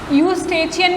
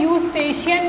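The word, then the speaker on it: Eustachian: Third is आर यूस्टेचियन, यूस्टेचियन भी बोलते हैं, यूस्टेशियन भी बोलते हैं, तो वो प्रोनाउंसिएशन पे डिपेंड करता है।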